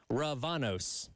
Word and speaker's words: Ravanos: Tyler Head, Captain Dave, Ravanos, as I've apparently been mispronouncing it this entire time.